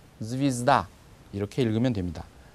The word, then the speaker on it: звезда: 별 이렇게 되어 있는 것은 정확히 쓰여져 있는 대로 하면 zvezda 이렇게 될 겁니다. 그런데 강세가 아에 있고 모음 예에는 강세가 없습니다. 그래서 그걸 예라고 하지 않고 그냥 이처럼 읽어서 zvezda 이렇게 읽으면 됩니다. zvezda.